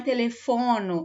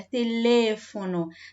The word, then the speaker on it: teléfono: Eu tenho uma sílaba tônica diferente, ó. Teléfono, tá? Não é telefono, é teléfono.